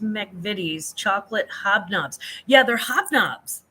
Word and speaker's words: McVitie's: Pronounced McVitie's chocolate hobnobs.